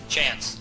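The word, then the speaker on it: Tschaz: Chance. Like, it's like a chance. It's like T-S-C-H-A-Z. And it's like Chance. Like a Czech word.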